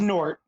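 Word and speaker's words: G'nort: This is Nort. Nort. You don't say the G.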